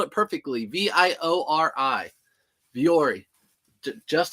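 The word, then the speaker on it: Vuori: very easy to list is viori how you spell it yep you spelled it perfectly v i o r i viori Ju Just how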